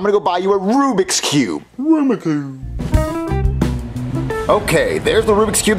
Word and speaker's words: Rubik's Cube: saying Rubik's Cube no Aruba Cube Jeffy is pronounced Rubik's Cube no it's Aroma Cube Marvin you know what he means stop agitating him I want him to say it right Rubik's Cube Rubik Cube I'm not gonna buy it for you unless